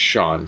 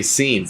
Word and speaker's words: Sean: I grew up with my name's Sean, spelled Sean, and for the longest time, everyone called me Scene, and so I understand having your name butchered, man.